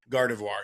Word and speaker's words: Gardevoir: Gardavoir. Gardavir. Gardevoir.